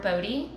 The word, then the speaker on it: Bodhi: but it's called awkward Bodhi so it sounds like body but it's spelled b-o-d-h-i which is the sunscript